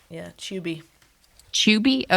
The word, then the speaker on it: Tubi: We don't pronounce tube like you do. We say it like chew with Chew. a B at the end. Yeah, Tubi.